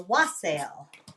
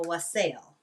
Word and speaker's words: wassail: it was what's called a wassail or a wassail, however you want to pronounce it.